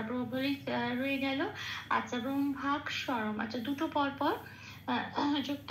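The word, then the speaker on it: ব্রহ্মাক্ষরম্: কিয়টা 6 নম্বরে তালিকাভুক্ত করে দেওয়া আছে, কিয়কে ভাঙলে হয় কয় হসন্ত পেট কাটা মূর্ধন্য স। আচ্ছা, তাহলে এবার ময় ভয় আকারের সাথে কয় হসন্তটা চলে গেল, কয় হসন্ত মানে অর্ধ ক, সেটা আগের অক্ষরে ময় ভয় আকারের সাথে জুড়েই উচ্চারিত হবে ব্রহ্মাক বলে।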